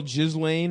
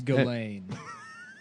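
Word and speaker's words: Ghislaine: What his bit his girl Jiz Lane or whatever the Yeah, it's Galain. They don't. Yeah. None of the You don't pronounce any of the letters.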